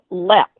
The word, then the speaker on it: Leap: let's uh let's take a trip over to leap castle this place is filled with history and stories oh i loved it and actually it's pronounced lap wow see i learned something every time i